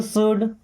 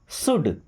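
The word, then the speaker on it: should: यू शुड practice daily. You means आप या आपको, शुड, यहाँ पे एल साइलेंट है ना, शुड, शुड का मतलब होता है करना चाहिए कोई भी काम।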